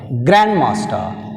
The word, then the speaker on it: Grandmaster: Grandmaster. Grandmaster. Grandmaster is a compound word. In compound word we have stress on the first syllable.